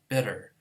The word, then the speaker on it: bitter: It gets actually pronounced by most Americans as bitter because T between two vowels gets pronounced as a D.